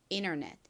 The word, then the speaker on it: internet: 이 in 부분에 강세가 있다고 말씀드렸죠. internet. 한국식으로는 인터넷이라고 주로 발음하고 표기합니다. 미국 사람들은 이 단어를 어떻게 발음한다고요? 이 T 부분을 약하게 발음내서 internet보다는 internet 이렇게 발음해요.